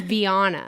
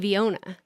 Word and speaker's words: Vyonna: It's Vanna. V. I've been saying Viona and you just sit there and I'm like okay.